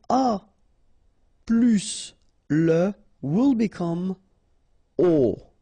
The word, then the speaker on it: aux: Okay, so you can see that here you combine a plus les, and you will get this AUX, okay, and then phonetically you produce it or you pronounce it O.